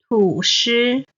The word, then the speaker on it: 吐司: 柳丁柳丁 Alright, then 吐司 sliced bread. Again, 吐 is the third tone. 司 is the first tone.